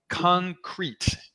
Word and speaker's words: Concreit: Moving on, Concrete. And I say it goofy like that because REIT is spelled like a real estate investment trust, REIT.